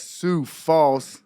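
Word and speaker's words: Sioux Falls: with a very special guest straight out of Sue Falls I say it right you said it right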